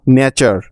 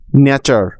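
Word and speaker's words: nature: sound দেয় ঠিক আছে এখানে টি এর উচ্চারণ চ এর মতো উদাহরণ যেমন ন্যাচার এন এ নে টি ইউ আর ই চার ন্যাচার ন্যাচার অর্থ প্রকৃতি একইভাবে ফিউচার এফ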